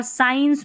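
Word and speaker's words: science: एस सी को स्क और स पढ़ते हैं, जैसे देखिए स्कूल में स्क, और साइंस में हमने स पढ़ा, साइंस में स पढ़ा, यहाँ पर सी जो है ना वो साइलेंट ही है।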